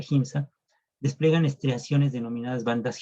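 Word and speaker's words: Giemsa: Por ejemplo, bueno, los cromosomas teñidos con el colorante GIMSA, se escribe como GIMSA, se pronuncia GIMSA, despliegan estriaciones denominadas bandas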